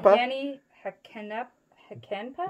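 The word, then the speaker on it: Jani Hakanpää: I pronounce it Yanni Hakenpa.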